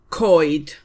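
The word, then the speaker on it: coed: The plural of trees is koid. C O E D.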